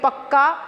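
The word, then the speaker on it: pucca: यहाँ पे पुच्चा लिखा है बट हम उसको प्रोनाउंसिएशन करेंगे पक्का हाउस।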